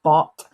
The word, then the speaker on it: Barthes: name sorry is pronounced bot he is french and um the french pronunciation would be bot but um i always say barthes because or bartes because